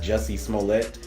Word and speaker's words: Jussie Smollett: He does a great job as well, and there was even a role there for, I believe his name is pronounced Jussie Smollett.